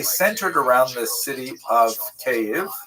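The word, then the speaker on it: Kyiv: around the city of KV. That's the Ukrainian pronunciation by the way that's favored today because of course Ukrainian is the dominant language in the country. But it used to be called in English Kiev which is closer to the Russian pronunciation because Russia dominated much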